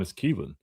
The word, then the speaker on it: Keelin: And I'm pronouncing it Keelin because I was saying Keelon at first and then uh I was talking to one of his high school teammates. I was on a visit here and he was like, "Kelon? It's Keelin."